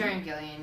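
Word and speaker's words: Karen Gillan: Karen Gillian, yeah.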